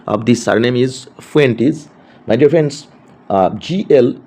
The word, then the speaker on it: Fuentes: The pronunciation of this surname is Fuentes.